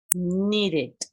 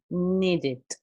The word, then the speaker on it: needed: El pasado de este verbo es needed. Needed. Termina con una D, entonces en la pronunciación del pasado, acá tengo que hacer sonar una I con una D. Needed.